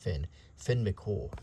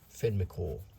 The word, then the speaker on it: Finn McCool: Renowned for his strength and wisdom, Fionn, also known as Finn, okay, it's probably pronounced Finn McCool. Okay, Finn McCool. So that's how we should say it, Finn McCool.